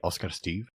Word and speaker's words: Oscar Styf: and so I'm Oscar if you want to pronounce it the swed way Oscar Steve this my full name I'm Swedish originally but